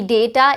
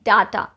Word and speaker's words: data: So some of the words that have two correct pronunciations are, it is also privacy, it is also privacy. It can be data, it can also be data. It can be schedule as well as schedule, and it can also